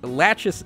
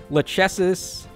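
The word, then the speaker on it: Lachesis: name by the way there's like so many different pronunciations for that name there's latches laces lechesis lakesis I I think it's lackasis because her Japanese name is rakis so that that probably makes the most sense but far be it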